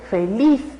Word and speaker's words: feliz: Sin embargo, cuando nosotros escuchamos la palabra feliz, otra vez escuchamos que el mayor énfasis está en la última sílaba. No es feliz, es feliz.